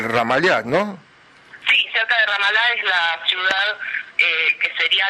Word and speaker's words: Ramallah: Y cerca del Ramal, vos corregime con la pronunciación de las palabras, cerca del Ramallah, ¿no? Sí, cerca de Ramallah es la ciudad que sería la capital transitoria